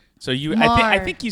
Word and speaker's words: Maher: Yeah, my last name is pronounced Mar. So Mar.